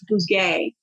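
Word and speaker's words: Bugaj: It's Bouguet.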